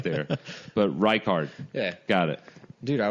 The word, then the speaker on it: Reichard: It's Reichard. Reichard. Reichard. Like rye bread card, birthday card. I kind of went way right there. But Reichard.